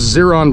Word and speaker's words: Zeron: So this is Zeron Vineyards. Zeron Vineyards. I imagine everybody gets the name wrong initially, unless they're Spanish speakers, right?